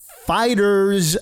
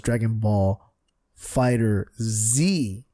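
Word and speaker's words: Dragon Ball FighterZ: game called Dragon Ball fighters I've been saying it wrong I thought was Dragonball Fighter Z no this fighters where the Z over Z the end what is this 1997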